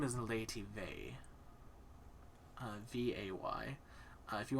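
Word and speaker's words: Vay: she is a woman her name is laity vey uh v-a-y uh if you want to go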